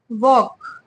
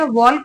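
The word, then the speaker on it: walk: डब्लू ए एल के वॉक वॉक में L silent होता है ठीक है तो इसको हम वक पढ़ेंगे डब्लू ए एल के को हम वॉक पढ़ते हैं वलक नहीं पढ़ते हैंक प इसको हम ठीक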